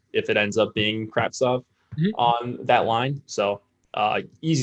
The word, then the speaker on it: Kravtsov: How do you pronounce his name? Kravtsov.